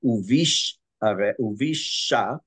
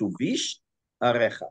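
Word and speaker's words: ובשעריך: It's not uvish uvisha. It's uvish arecha.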